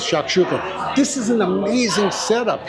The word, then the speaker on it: shakshuka: This is now Israeli Mediterranean and the prop proper way is shakshuka.